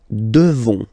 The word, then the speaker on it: devons: Nous devons. Okay, classic ending ONS for nous. Okay, you just pronounce this on, on, this nasal. Okay, and then the S, final S is not pronounced.